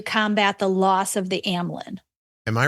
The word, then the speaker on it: Amylin: So it's Amylin, that's how you say it, and Symlin.